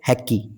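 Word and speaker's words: haiku: ये देखिए क्या लिखा हुआ है, हैक्की। हालांकि ये हैक्की की हैक्कू होना चाहिए था, देख लेंगे, है ना।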